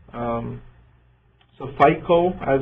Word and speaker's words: FICO: of as different sap modules right um so FICO as it's pronounced fic is the finance and the controlling